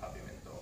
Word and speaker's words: Papiamentu: In Aruba they spell it Papiamento with an O. But did they say Papiamentu? They say Papiamentu.